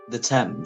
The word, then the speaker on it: Thames: you say that t t h m s the temps the temps uh the temps London is closed